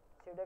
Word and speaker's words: pseudo: पास दो चीज होती है एक होती है सूडो एलिमेंट और एक होता है सो क्लासेस दो